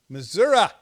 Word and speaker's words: Missouri: okay that's one from Missouri Missoura that's how they say it here you know Missoura Missouri